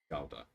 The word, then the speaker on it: Gouda: I do know how it's pronounced, Shibby. Gouda.